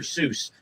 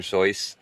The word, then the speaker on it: Seuss: It's correctly pronounced soy. In fact, one of the author's friends wrote a poem about his name that went like this. You're wrong as the deuce and you shouldn't rejoice.